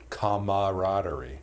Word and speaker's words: camaraderie: is a fun order it has that extra a that people aren't expecting camaraderie oh I didn't no